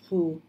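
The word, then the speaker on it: 葫: The first character of gourd is Who? And has the same pronunciation as the character for protect or guard and the word blessing.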